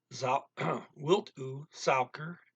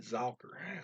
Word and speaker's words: suiker: Wilt u suiker and milk? Almost said Zauker. That's German. And I got to pronounce those S's as S's in this language.